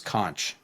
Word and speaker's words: conch: So going into the race, I always thought it was conch, but everybody at the race pronounced it conch. So I'm going with conch.